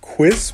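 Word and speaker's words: Quisp: is apparently the like the lore of the cereal is that it's pronounced quiz because the the mascot has a speech impediment what is that yeah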